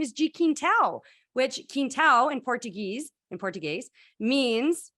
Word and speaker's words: Quintal: I was like Keen, so like K-E-E-N to get him to say it properly.